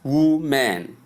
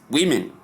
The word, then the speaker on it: women: Look women not wman but women.